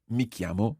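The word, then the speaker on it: mi chiamo: michiamo listen again mikiamo katie how would you see my name is katie mikiamo that's right and it's quite a tricky sound in there mikiamo and if you can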